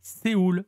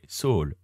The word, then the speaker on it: Seoul: bien noté notamment que l'on ne dit pas Séoul mais soul important exactement pas de